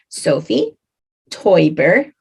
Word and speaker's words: Sophie Taeuber-Arp: First, let's go with pronunciation of her name, Sophie TaeuberArp.